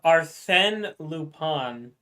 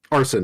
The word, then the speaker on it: Arsène Lupin: It's Arsène Lupin. Arson.